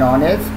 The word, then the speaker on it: honest: an hour, H silent, an honest, here is silent, an MA, M that's